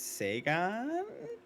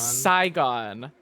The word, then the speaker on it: Saigon: no I think it's Sega I will accept your Miss slight mispronunciation the correct answer is Saigon I thought she would